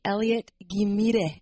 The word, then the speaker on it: Ghimire: So my name is Ghimire. Everyone say Ghimire.